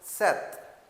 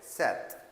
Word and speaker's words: sept: six For seven we use here the word sept. As in Punjabi we use the word we pronounce the seven as a sat. So in the French we call it sept.